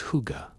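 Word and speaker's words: hygge: The Danish concept of hy which you might pronounce as huga.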